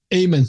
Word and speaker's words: Amen: Amen.